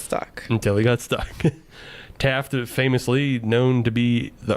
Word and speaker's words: Taft: to pick William Howard Taft. Ah. Yes. The only president to serve both as president and chief justice. And get stuck in a tub. And get stuck in a tub. Taft rhymes with draft.